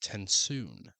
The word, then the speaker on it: TenSoon: His father sat in his chair speaking quietly with Tensoon, the Venture Condra.